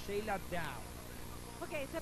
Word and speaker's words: Dow: ¿Sheila Doe o Sheila Down? Ok, se pronuncia Sheila Down.